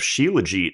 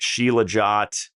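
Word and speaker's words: Shilajit: take a gram of Sheila Jeet every day in tablet form that's the molife Panacea product and I've been taking that before it was cool now you have people out there pronouncing it shilot shalet just all these marketers that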